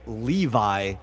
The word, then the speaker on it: Levi: Gemini says that he pronounces Levi like revive or sky, right?